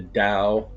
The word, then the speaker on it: Tao: to talk about the Tao or the Tao. I've heard professors who I took classes on pronounce it with a D, like a soft D, the Tao, and the Unus Mundus.